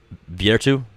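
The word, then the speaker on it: virtù: There are things that are human nature that goes back to the masculinity and virtu.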